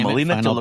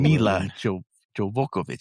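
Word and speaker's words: Milla Jovovich: Because it's got Melina Jolokovic.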